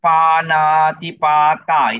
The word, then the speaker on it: Panatipata: Okay, so this area actually, okay, for Panchasila, our area of weakness is number one, is Panatipata. It's all long A's here, number one.